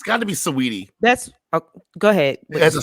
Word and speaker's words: Saweetie: sweetie they of course am i pronouncing her name correctly is it sweetie like it looks like it's spelled wheatie that's right but it looks like s-a-w so how is it sweet okay so so sweetie that's okay there's no